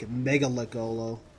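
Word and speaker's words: Mgalekgolo: And some Mechalocolo. Oh boy. Seemed like when in Halo Wars they pronounced it, or not Halo Wars, Halo Nightfall, they pronounced it almost like Megalocolo.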